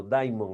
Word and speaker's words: daimon: Daimon, así se escribe, no diamante en inglés, sino daimon, así, D-A-I-M-O-N, daimon es deidad, una deidad, y una deidad, perdón, maligna.